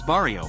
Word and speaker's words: barrio: However, this is probably misspelled on purpose, as in Mexican and Chicano Spanish dialects the sound of B and V are basically pronounced the same way.